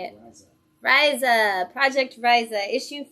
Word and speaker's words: Riese: Riese.